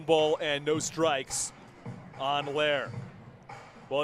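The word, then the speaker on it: Loehr: was pretty darn good trace lair pronounced correctly and everything must have been given a bit of a tip because i would not have been able to get lair out of l-o-e-h-r but pretty impressive nonetheless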